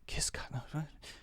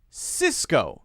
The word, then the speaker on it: Cisco: a common rule usually if you have a C followed by an i it will often be pronounced as a soft c or an S sound but if you have